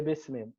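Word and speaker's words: بسم الله: And the Hamza would not be pronounced.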